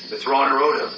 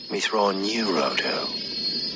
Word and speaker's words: Mitth'raw'nuruodo: that's what I said meono it's pronounced mithon neodo yes mithon neodo mithon